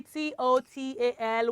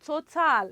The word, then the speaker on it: total: What do we have silent? It is A. So it is not total. It is total. It is what, children? Total. You merge the T and the L together. It comes together. And the A becomes silent when pronouncing it. But when you're putting it